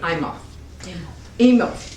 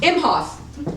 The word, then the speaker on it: Imhoff: longtime collaborator and director gary eima emil i know him he's my co-star i can't say his name say it again hoff imhoff gary okay it too just